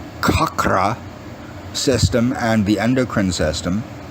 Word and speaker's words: chakra: about medical yoga therapy the chakras were actually it's pronounced kakra system and the endocrine